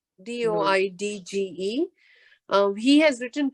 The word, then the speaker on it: Doidge: I have read the Bessel van der Kolk's research is, hold on, say his name again, if you don't mind. Dr. Norman Deutsch, Doidge.